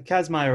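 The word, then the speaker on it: Kazmaier: the name of this because i can never pronounce anything you want the patty cats meyer yeah kashmir you got it yeah casmire award that is for short you can go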